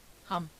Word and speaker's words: hump: If you read this story aloud, please pronounce hump exactly as it is spelled, for that is how he said it, hump.